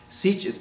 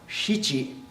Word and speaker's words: shichi: Sich is actually pronounced shichi. It's just really hard to do when you're an English speaker. Shich. It's not sichi, but you'll hear people say that all the time.